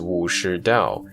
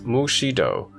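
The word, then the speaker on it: 武士道: The modern Chinese pronunciation is Wu Shi Dao. In Cantonese, Mu Shi Do, very similar to Tang pronunciation, whence the Japanese Bushido.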